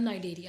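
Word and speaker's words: Cnidaria: एक का नाम निडेरिया रख दिया गया है, इसमें सी साइलेंट है, और एक का नाम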